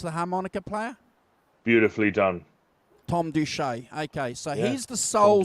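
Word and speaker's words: Thom Doucette: Is that how you pronounce the harmonica player? Beautifully done. Tom Duche.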